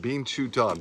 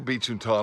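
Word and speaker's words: binchōtan: I think it's pronounced Binchō-tan. Bean like Binchō-tan.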